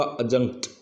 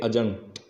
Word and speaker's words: adjunct: इसी प्रकार से हमारा चौथा एग्जाम्पल है, उसमें ADJUNCT, इसका सही जो उच्चारण होगा अजंक्ट, इसका उच्चारण हम करेंगे अजंक्ट, यहाँ पर डी साइलेंट रहेगा।